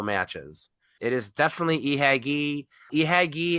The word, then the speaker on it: Ihagee: Ihagee is a pronunciation of the letters IHG, which itself is an abbreviation for something really, really long in German. I don't remember what it is. So it is definitely an I.